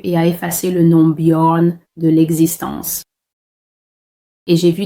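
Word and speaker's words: Bjorn: la Norvège, ces pays-là, c'est le nom Born qui s'écrit B J O R N.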